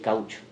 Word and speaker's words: caoutchouc: siècle, où on appelle ça la fièvre del caoutchouc. La fièvre du... Tu peux prononcer?